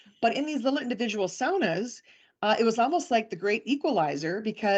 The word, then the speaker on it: sauna: here call them um saunas but I know up there it's pronounced sauna because that's the the proper Finnish pronunciation. Finnish name the Finnish pronunciation.